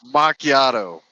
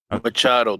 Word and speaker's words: Machado: It's pronounced macchiato. Machado, dipshit.